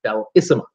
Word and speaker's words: Bellissima: Bellissima, the Bellissima, is how you say it, Bellissima.